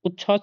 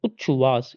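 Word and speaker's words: उच्छ्वास: उद grieve उद grieve उच्छवास उास नहीं होगा उच्छवास इसे कई बार पढ़िए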